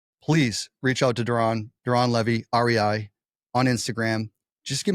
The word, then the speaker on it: Levi: Doron is spelled Doron, Levi, like Levi, the jeans, right?